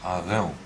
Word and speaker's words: Arão: Aaron with a guttural R. R. Arau. Arau. O nome é Arau. Arão.